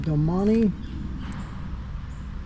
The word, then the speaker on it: Domane: They pronounce it Domane 5, and the 5 is right there.